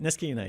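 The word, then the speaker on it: Niskayuna: of Albany um having gone to is it Niskauna High School? You said it right. No, that's right. Niskuna.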